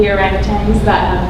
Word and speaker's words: orangutan: I have personal friends who have gone to Borneo to work with the orangutans it's actually pronounced orangutan. We've been pronouncing it wrong, but it's a kind of a struggle.